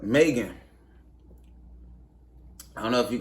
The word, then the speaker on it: M3GAN: this out right now it's spelled Megan with a three in it it's like M three g-a-n right Megan Megan is basically like um